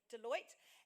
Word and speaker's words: Deloitte: is he is a cyber security consultant at deloitte did i say it right yes deloitte and izzy is our head judge today now